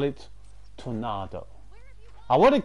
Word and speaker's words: Tornado: I love the black horse, and I love the name Tornado, especially when you pronounce it that Spanish way rather than Tornado. Tornado is a bit weird, but Tornado.